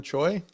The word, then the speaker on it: Choi: Uh yeah, another future Brewers player, uh Jim Choy, pronouncing that rightly.